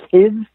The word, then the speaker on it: Kyed: It's a Danish last name. I think it's pronounced Kids in Denmark.